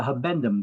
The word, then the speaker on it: habendum: I like to mispronounce this one to remember it a little bit better like that, because usually there's a stupid question on exams about relating the have and to hold clause begins with the words to have and to hold. So I just mispronounce it. I say the have been to hold clause is the habendum clause.